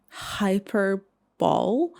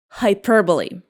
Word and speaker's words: hyperbole: How do you pronounce it? Hyper ball. It is pronounced like hyperbole.